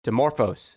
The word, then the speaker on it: Dimorphos: into the uh demo how do you say dimorphs dimorphos is that how you say dimorphous yeah that's the asteroid's name